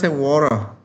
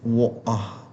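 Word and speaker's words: water: Hend warah. Oke, bahasa Inggrisnya air is warah. or in British is wa but in in Australian we call it war.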